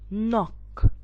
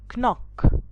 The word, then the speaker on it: knock: knight this is called knock not knock this is called knob not knob so if you see here these three words the k is silent in it so most of the